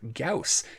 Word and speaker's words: Gauss: weapons with the main line update along with cows that is how it's pronounced do not trust space mom pronunciation we'll